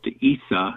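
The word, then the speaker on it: عيسى: times give or take his name is pronounced Issa in Arabic and for example he's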